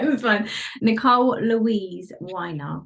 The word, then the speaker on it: Winer: was fine Nicole Louise weiner like a glass of wine with an R fine wine okay fight